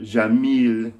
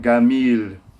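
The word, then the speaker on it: جميل: The word jamil means beautiful, but if you say it in Egypt, you have to pronounce it gamil, because the j is always g, hard g in Egypt.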